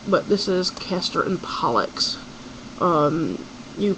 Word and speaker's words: Pollux: names are caster and pollocks um amelia you said pollock it's a pollux pollock i think you're thinking of the whitefish and that's p-o-l-l-c-k-u-c-k um but this is caster and pollux um you pronounce that